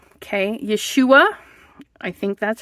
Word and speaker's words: Yeshua: say it wrong yua Yeshua okay Yeshua I think that's how I I listened a couple of times to Google tell me how to say that it's yua Yeshua okay and then the are